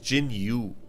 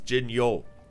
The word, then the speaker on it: Jinyo: the Jinyo Force, but my name is not pronounced Jinyu, it's Jinyo.